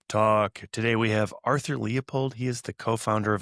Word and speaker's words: Leupold: My name is Arthur Leopold.